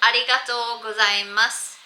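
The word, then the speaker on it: ありがとうございます: It is pronounced arigatou gozaimasu. Again, I've put in a space, but there shouldn't be spaces in Japanese.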